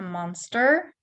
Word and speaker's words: monster: A monster emerged from the water. Вы, надеюсь, увидели ER под ударением, да, в середине слова. Emerged. Monster. Again, гласная O не под ударением, будет шва. Monster.